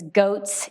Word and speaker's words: Gauthier: He told me to say his name is Goats, yay.